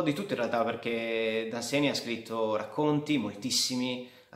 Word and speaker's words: Dunsany: Oggi parleremo di Lord Anseni o Danseny, si pronunciano in entrambi i modi, l'ho sentito. Danseny dovrebbe essere la forma corretta, quindi noi utilizzeremo questa.